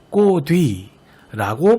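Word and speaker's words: 꽃 위: 이 위라는 것은 명사로 실질 형태소니까 꽃은 꽃이라고 발음하고 이 디귿을 연음하여 꼬뒤라고 발음한다는 것이고요.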